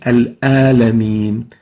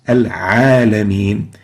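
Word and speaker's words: العالمين: So this is the ayn, and they mispronounce the letter ayn and replace it with the letter a. So instead of saying al-alameen, they would say al-alameen. The right way of pronouncing it is al-alameen.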